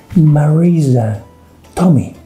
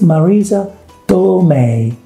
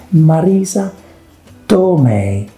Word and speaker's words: Marisa Tomei: actress that everybody loves we all do right marisa tommy marisa tomai marisa tommy whatever you say it's marisa tomei i don't believe many people make the mistake